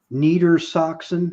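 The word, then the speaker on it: Niedersachsen: it it was called Neer soxon low Saxony Neer Saxon is that how you say it yeah neita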